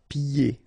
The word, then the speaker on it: pieds: Pieds. Okay, so you don't hear the D.